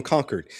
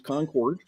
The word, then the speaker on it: Concord: know, how far away are you from conquered because we need to make sure internet doesn't go out. Um, well, to pronounce it correctly is Concord.